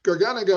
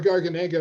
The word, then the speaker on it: Garganega: Garganega or Garganega, and I've heard it pronounced both ways, of course, is the primary grape in Soave Classico and all the variations.